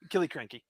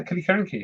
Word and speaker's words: Killiecrankie: Killiecrankie. And I'm probably mispronouncing that. No, I don't think you are. Okay, the new. Really? Yeah, Killiecrankie. I think that's how you pronounce it.